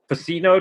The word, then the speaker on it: Vicino: the honor of having Anthony faito did I say it right probably not you nailed it yeah you did it